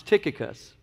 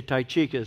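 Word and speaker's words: Tychicus: verse 7 now the way this name is pronounced is tikka cus but I usually say ty chika so let's see what happens here we'll just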